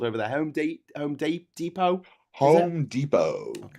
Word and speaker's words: Depot: Home home depot. Home Depot. Okay. I'm glad you don't say depot. No. I I kind of expect you to say deepot, but you don't.